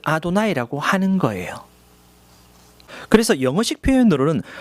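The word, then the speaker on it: אֲדֹנָי: 불렀어요 그래서 쓸 때는 이렇게 쓰고 부를 때는 아도나이라고 부르는 거죠 그래서 히브리인들은 못 읽기 때문에 제가 발음을 아도나이라고 하는 거예요 그래서 영어식 표현으로는 yhwh가 됩니다 그래서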